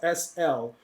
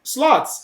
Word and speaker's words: Slot: Slots, Simple. actually. So, but Chappie was the one who told me for the first time. His name is actually pronounced Slot.